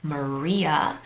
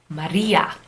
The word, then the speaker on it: Maria: I think English is the only language that would pronounce it as Maria. If you look at other languages, like I think Spanish or Italian, they wouldn't say Maria, they would say Maria, Maria, that flap.